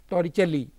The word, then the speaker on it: Torricelli: called toricelli's law see the spellings are t o r r i c e l i this person was in italian and therefore the pronunciation is torichali law and what is this